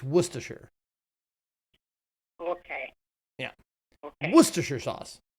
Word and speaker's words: Worcestershire: I think it's Worcestershire.